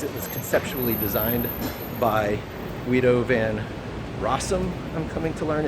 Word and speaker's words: Guido van Rossum: And so everyone who wants Python as it was conceptually designed by Guido van Rossum, I'm coming to learn it's pronounced.